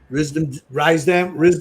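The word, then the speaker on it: Risdam: So to say it right, it needs to go RISDA. And then split it in the half. So it's Rise. So it's Rise Dam. Rise Dam. Okay, that's what I thought it was, but that's the way I always pronounce it. But I heard people pronounce it Risdom, so I didn't know.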